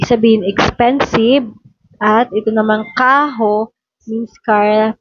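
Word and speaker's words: carro: expensive at ito namang kaho means car pag double R siya guys ano siya guys pronunciation niya is h and dito is Bose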